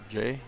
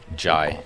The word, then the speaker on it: Jai: So, how do you pronounce her name? Jay? Jai. Jai? Jai, yeah. Jai, okay.